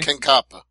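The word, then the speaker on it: Kankaanpää: I forgot to mention this in the Invicta talk, but, former Invicta champion Katja Kanapa? Is that how you say it, Stevie? Kankapa.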